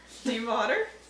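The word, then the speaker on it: Stiefvater: Steve Otter? Steve Otter. Steve Otter. Like Steve Otter. Steve Otter. That's not how it's spelled.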